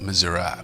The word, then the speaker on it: Missouri: And I should say, being that my grandmother was from Iowa and my grandfather was from Missouri, it was actually, northern Missouri is pronounced Missouri, so I apologize for that.